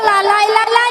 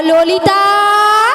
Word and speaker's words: ললিতা: ওটা লালাই লালাই নয়, নয়? হর ললো ললইও নয়। তাহলে কি? ওটা কি হবে জানো? ওই কি হবে? আর তুমি ঠিকঠাক উচ্চারণ করো। আচ্ছা বল। বলো ললিতা। ললিতা।